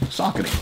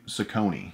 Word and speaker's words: Saucony: say the word saucony is it saucony that is improper pronunciation here what is the pronunciation socketing that's the proper pronunciation how do other people say other countries they say socony socony and that is incorrect maybe in your country